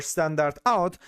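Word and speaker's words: stdout: And we also have the std out pronounced as the standard output or standard out.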